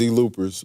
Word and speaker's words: ZeelooperZ: And how do you pronounce it? It's ZeelooperZ, but it came from our room.